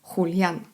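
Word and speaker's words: Julián: Imię Julian również zapisuje się przez J, ale wymawia się inaczej. Julian.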